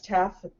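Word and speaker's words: TASF: Yes, TAF, the S is silent, that drives us all crazy. But it is called the TAF program, or Agent's Choice.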